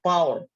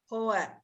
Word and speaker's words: pour: It is pour or power. How can we pronounce it? Power or pour? No, pour down.